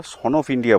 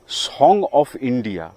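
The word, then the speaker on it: Song of India: আমরা নার্সারি ভাষায় বিভিন্ন উচ্চারণের বিবর্তনের মধ্যে বিশেষ করে আমাদের স্থানীয় ভাষায় একে আমরা সন অফ ইন্ডিয়া বলি। যদিও প্রকৃতপক্ষের নাম সন অফ ইন্ডিয়া নয়। একে অনেকে সন অফ জামাইকাও বলে থাকেন। এর আসল নাম হলো সং অফ ইন্ডিয়া।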